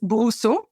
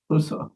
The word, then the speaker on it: Brousseau: Maybe in closing, you could tell me how to pronounce your last name. It's Brousseau. Brousseau.